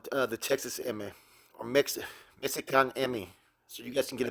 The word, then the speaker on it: Mexikanemi: what's about it uh This Is How They pronounce it spell it m e x i k a n e m i Mexican Emmy which is a form